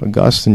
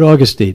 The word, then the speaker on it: Augustine: Augustine, you pronounced that correctly. Yeah, not Augustine.